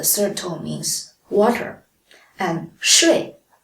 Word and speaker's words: 睡: For example, 水, the third tone means water, and 睡, the fourth tone means sleep.